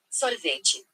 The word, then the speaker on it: sorvete: because it wants it they're pronouncing the R in the word and I'm failing to like say it properly. Sorbet sounds so heavy. You hear that? Sorvete. Sorvete. Sorvete. Sor. Oh, she's saying sorrow, not sore.